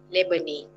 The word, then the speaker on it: Lebanese: neighbor name okay not label this but lebanese lebanese not labor not labor but the stress is